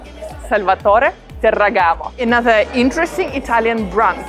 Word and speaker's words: Salvatore: me can i ask you something how to pronounce the brand uh italian way salvatore salvatore another interesting italian brand right behind me super